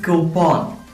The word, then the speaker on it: coupon: What is its pronunciation? It is coupon.